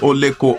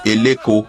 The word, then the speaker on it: Oleko: Due to different migrations into Eko from the west, they mispronounced Oleko as Eleko of Eko, which is still fine.